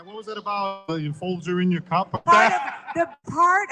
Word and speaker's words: Folger: I pronounced the Folger correctly, right? Folger, as in, yeah. Yeah, the coffee thing.